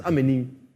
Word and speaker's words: Amani: But yo, don't say Amani. I'll never use Amani. I'll come after you. It's Amani.